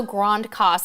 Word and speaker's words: Grand Case: Also Grande Casse on the French side. Great, it's spelled Grand Case.